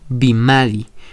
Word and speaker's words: bimadi: se puede traducir como bimadi. Esa pronunciación podemos tomar como referencia a las palabras bueno, burro, etc. Su pronunciación es igual a la B del español.